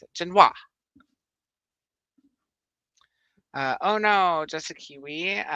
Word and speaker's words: Genoa: Italy, Jen, and W and Wa is how to pronounce it. Genoa.